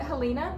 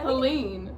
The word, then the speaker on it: Helene: Because so, Hurricane, is it Helena? That's how you say it? Sure. Helena. How do you say it? Helene. Helene. I thought it had an A at the end.